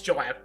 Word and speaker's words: Joab: Actually, is it Job or Joab? Sorry. Joab. Oh, sorry. It's Joab.